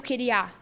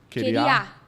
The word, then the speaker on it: queria: palavra queria sim o a sílaba T tônica tá queria ia sim no ia agora se você colocar a sílaba forte no a queer a tá errado é tá errado tá errado agora o nome disso